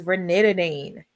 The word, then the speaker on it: ranitidine: Zantac, the pronunciation for the generic is ranitidine.